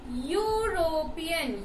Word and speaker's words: European: European. U. How do I pronounce that? E is pronounced as Y-U.